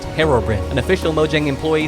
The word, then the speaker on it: Herobrine: someone at Mojang told him that it is pronounced Herobrin an official Mojang employee saying that is enough